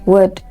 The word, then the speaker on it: would: o u l d these words have the L Sound silent yes so these words are not pronounced C would should they are correctly pronounced could would should okay could would